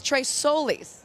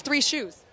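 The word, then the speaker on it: Tres Soles: of his horse's name it's Tres Solis right it's just like three sons I thought it was three shoes oh well it's whatever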